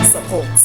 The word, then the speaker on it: support: Doctor is a two-syllable word which has the first syllable as the stress label and the second syllable which contains the shwa sound as the stress label. Support, support.